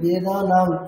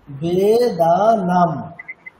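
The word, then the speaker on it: वेदानां: তো দেখুন এখানে আমরা উচ্চারণ কেমন করি, বেদানাং এরকম করি, তাই তো? বেদানাং বাংলাতে এরকম করতাম আমরা। এরপর থেকে আমরা অনুস্বারের উচ্চারণ সর্বদাই কেমন করব, মকার। আমাদেরকে একেবারে একেবারে এটা মাথায় ঢুকিয়ে নিতে হবে যে অনুস্বার ইজ ইকুয়াল টু ম, প ফ ব ভ ম। তাহলে উচ্চারণটি কেমন হবে, মকার মতো হয়, তাই তাই হয়। বেদানাম, ঠিক আছে?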